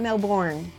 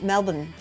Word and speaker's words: Melbourne: Melbourne is the best it's not Melbourne it's Melbourne Melbourne identity No melbourne just don't even pronounce the are am i right yup